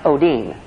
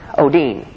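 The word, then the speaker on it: ὠδίν: Greek word o Odin ODI in and it's pronounced Oh Dean Oh Dean and the word sorrows in the Greek means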